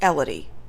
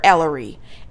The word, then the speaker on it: Elodie: They have told her multiple times that her name is Elodie, and she's calling her Ellery every single time, and I think that she's doing this on purpose.